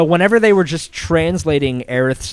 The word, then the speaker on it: Aerith: then they go and they say aerith's name as aerith and people are like well that's how it's pronounced you know like it's official like they said it in the kingdom hearts game like that's how earth's name is pronounced some people will still